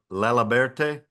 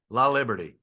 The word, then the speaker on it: Laliberte: Laliberte. Liberty. Liberty. Okay, Liberty. La Liberty.